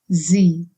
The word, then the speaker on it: sie: If S is at the beginning of any word, it needs to be pronounced as z, like in busy again. For example, sagen. It's not sagen, but sagen, and sagen means to say. Similarly, sie. Yeah, sie means she.